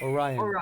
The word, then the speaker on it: Orion: do you say it orion like a ryan's belt oh okay that makes